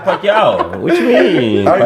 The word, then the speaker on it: Pacquiao: They going to kill you in the comments with that pronunciation, but don't know Pacquiao. Just Pacquiao.